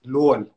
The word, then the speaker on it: Luol: means and you know the funny thing about my name is it depends where you're from the way you pronounce it you know this is everyone says it different in in my language in South Sudan my name is Lorne right now when you